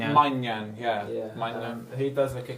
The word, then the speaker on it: Maignan: I can't pronounce the name, the keeper from AC Milan, Manigan? Maignan, yeah.